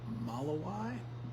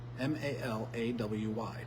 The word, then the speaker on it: Malawi: Watching from Malawi. How do you say that? Malawy. Malawi. Malawi. That sounds like Hawaii.